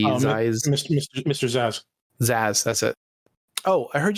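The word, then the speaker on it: Zsasz: was that guy's name some of the z zeiss zaizaz how you pronounce that uh levy what's up the batman bad guy with the z his eyes mr mr zazz zazz that's it oh i heard you talking about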